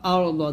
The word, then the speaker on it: الأرض: ওয়াল হামজা র জবর আর দ জবর দ ওয়াল আর দ আছে যদি এখানে থামেন তাহলে বলতে হবে ওয়াসিয়া কুরসিয়ু হুস সামাওয়াতি ওয়াল আরদ والأرض وسع كرسيه السماوات